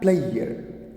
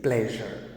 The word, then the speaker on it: pleasure: Most people mispronounce the word. They call it treasure. It's not treasure. It is pronounced as treasure. Right? It is treasure. And it is not pleasure. It is pleasure. So pleasure and treasure. And the sound is j, which is a voice sound, voice palatal sound.